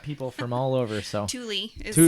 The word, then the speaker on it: Tooele: So Tooele is how it's spelled. Tooele.